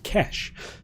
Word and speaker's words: Quesh: I've been told it's pronounced Quesh, so we're going with that. We've got a mission to assault the Empire's gauntlet superweapon, but it's in danger.